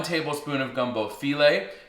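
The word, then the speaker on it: filé: Now I've also got 1 tablespoon of gumbo filet, and it's spelled like file, right? With an accent on the E at the end.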